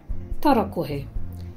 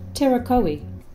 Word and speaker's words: Tarakohe: Tarakohe. Forget terakohe. The correct way to pronounce it is tarakohe.